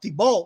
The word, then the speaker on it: Thibault: And Thibault, that's how you say his name.